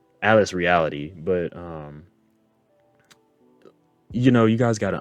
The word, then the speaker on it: Atlas Reality: One thing I know about Atlas Reality, yes, I said it right this time. I don't know why I always say Atlas Realty, but Atlas Reality.